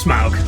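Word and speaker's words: Smaug: That's pronounced smog, not slug.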